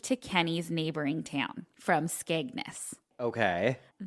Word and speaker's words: Skegness: I looked up how to say it, and it said Skeg and then Ness. So we'll trust it. Guys, come for me. Skegness.